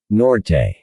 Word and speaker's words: Norte: He pronounced the last name as two syllables. Norte, Julius Norte, Parker echoed.